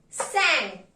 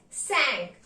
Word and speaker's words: cinq: 5 is pronounced as sank. Pay attention. Even if the spelling is C-I-N-Q, it is pronounced as sank. 5, sank.